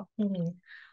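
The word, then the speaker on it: 국민: ตรงง ข้อ กุงมิน น่ะ เวลา อ่าน มัน เป็น กฎ การ เปลี่ยน เสียง มัน อ่าน ว่า กุงมิน ครู บอก แล้ว กุก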